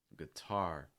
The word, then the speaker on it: guitar: of a word too starts of words can also be reduced like here i still think guitar is kind of bad though guitar guitar some sort of ghee it's more of a guh so it's not guitar